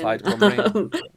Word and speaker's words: Plaid Cymru: Plaid Cymru.